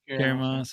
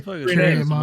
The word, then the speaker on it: Carrie-Anne Moss: Carrie Moss. Yeah. No, Green Tuner. You say it like it's one word. You like Carrie. It's Carrie-Anne Moss. Oh really? Yeah. You just say Carrie-Anne Moss.